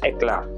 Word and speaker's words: Eclat: The proper pronunciation or the most Filipino way that we can say it is Eclat.